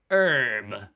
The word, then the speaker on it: herb: so yeah premiere premiere 37 is herb herb um oh oh you guys just pronounced that herb i just said it's australian way in american english herb you just don't i like